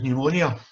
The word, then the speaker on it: pneumonia: The word she was trying to say actually was pneumonia. But because it's got a silent P at the beginning of it, she assumed that it wasn't silent and that was actually the word.